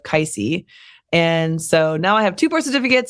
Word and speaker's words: Kaisie: one I and then everyone called me Cassie instead of kisy and so now I